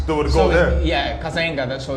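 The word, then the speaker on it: Cazenga: I'm probably saying the name wrong. King Zeta.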